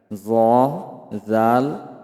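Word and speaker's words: ذ: আগা সামনের উপরের দুই দাতের আকার সঙ্গে লাগাইয়া জাল সা অর্থাৎ জিহ্বার আগা সামনের উপরের যে দুই দাঁত আছে দুই দাঁতের আগার সঙ্গে লাগাইয়া জ জাল সা উচ্চারণ করিতে হবে।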